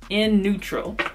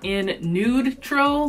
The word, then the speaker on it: In Nude Tral: polish in the shade in neutral it's actually pronounced in nude troll like you know neutral but nude and that was only